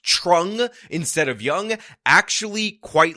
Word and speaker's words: Truong: various local news segments it is in fact pronounced trong which means that this local news lady made